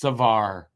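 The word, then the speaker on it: Savard: the end of saard is mute so it's pronounced Savar same for Harvey P so I I answered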